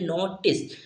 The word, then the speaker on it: notice: ठीक है, तो यहाँ पर हमने क्या लिया, सा, तो यहाँ पर ई जो होगा हमारा साइलेंट रहेगा, तो इसे हम क्या पढ़ते हैं, इसका उच्चार करते हैं, तो इसे हम पढ़ते हैं नोटिस।